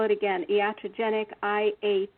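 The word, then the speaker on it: iatrogenic: to do the patient safety work and I'll spell it again yata genic i8 t r OG en IC and you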